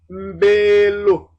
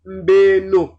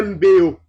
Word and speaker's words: mbelo: Si on disait mbeo, ce n'est pas coulant. Cette prononciation n'est pas coulante. On préfère un L ou un N euphonique. Mbelo, mbeno, ta maison.